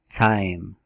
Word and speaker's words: time: Esse E é mudo. Então é time, time. Ok?